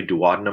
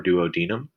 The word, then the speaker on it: duodenum: stomach it's going into the duodenum or the duodenum can be pronounced either way duodenum or duodenum here the pylorus and